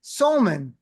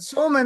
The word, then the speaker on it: Salmon: We have Sman, also known as Salman, also known as a whole bunch of other pronunciation, but Sman is right.